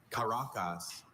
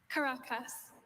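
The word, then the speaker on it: Caracas: Karacas. Karacas. May I please have the definition? Karacas is a city near the Caribbean coast of Venezuela. Caracus.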